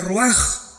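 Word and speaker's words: רוח: Se pronuncia roaj. Por ejemplo, cuando hablamos del Espíritu Santo, el Espíritu Santo es roj el kados.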